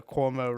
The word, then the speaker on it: Cuomo: he resigned today so cuomo rhymes with cosby he's out you know